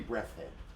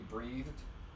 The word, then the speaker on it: Breathed: Berkeley Breathhead. Yeah, I can't say his name. I don't know how to say it. Berkeley Breathed.